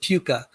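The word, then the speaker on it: PUCA: um universal common ancestor uh p-u-c-a i pronounce it puka so if there's no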